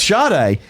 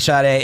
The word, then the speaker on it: Sade: Oh, so it's Sade. Have you heard me say this? No. You're kidding me. Thank you. And in the comments, people keep saying that they don't think Sade is pronounced that way.